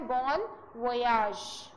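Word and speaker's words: bon voyage: इसका जो सही प्रोनाउंसिएशन है वो है बॉन वोयाज, ई नहीं आएगा।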